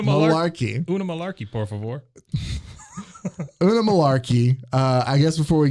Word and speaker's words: Oonagh: is, and I'm going to butcher this because it's spelled Oonagh. So Unagi.